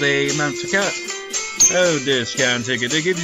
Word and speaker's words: Takao: I'm going to just like see how this is pronounced because this is bugging me. Okay, Takao.